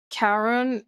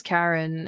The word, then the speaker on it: Charon: It's um Karen it's Karen as in Do you remember Charon from Hades? It's it's spelled like that, but in this game it's pronounced as Karen and in Hades it's pronounced as Charon.